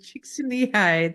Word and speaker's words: Csikszentmihalyi: And now I'm on a podcast and I have to say this name out loud and I'm gonna pronounce it properly, which is Michaela I Csikszentmihalyi.